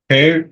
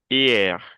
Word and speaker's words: hier: Her, in her, No. Hier. La H no se y- pronuncia. Hier.